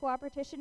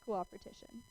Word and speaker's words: coopertition: have respect and coopertition coopertition is another madeup word by first it's like cooperation but it's coopertition okay we didn't misspell